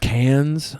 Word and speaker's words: Cannes: I didn't even It's hear pronounced cans.